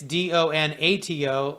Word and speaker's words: Donato: And in case you might be phonetically challenged, like I can be at times, it's Donato, last name.